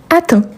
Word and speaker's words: atteint: Donc ici, on a il atteint avec t à la fin et bien évidemment on ne le prononce pas. OK. Donc j'atteins, tu atteins, il atteint.